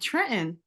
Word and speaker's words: Trenton: And yes, you said it right, Trenton. Like when you leave the T out, that's how we do it. We don't say Trenton. Trenton, New Jersey.